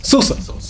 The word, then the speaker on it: Souza: His name is spelled Souza. Sousa.